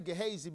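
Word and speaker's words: Gehazi: the exposure of gesi I say gesi because that's the actual translation or um pronunciation of his name gesi the Hebrew word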